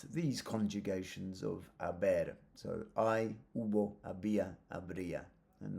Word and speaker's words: hay: So, hay, hubo, había, habría. And notice that the H is silent. La H is silent. So, I, it's not hi, I.